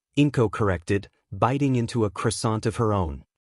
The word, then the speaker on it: croissant: But I believe the pronunciation is Kuasan.